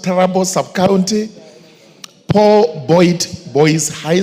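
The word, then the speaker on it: Turbo: The recruitment will be conducted in the following sub-counties: Trubo, sub-county, it's pronounced Tarabo sub-county, Paul Boyd Boys High School at 8 a.m.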